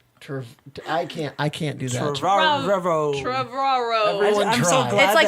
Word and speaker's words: Trevorrow: It's like tomorrow and Trevor combined.